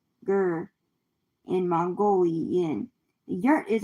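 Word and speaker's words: ger: Y for yurts, the tent like homes of the Mongolians called Gur. In Mongolian, the yurt is a round structure rhymes with hair.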